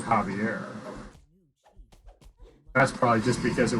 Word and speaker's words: Xavier: Just Xavier. But pronounced it Javier.